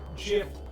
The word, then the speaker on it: GIF: that it should be pronounced GIF like the brand of peanut butter rather than with the hard G sound.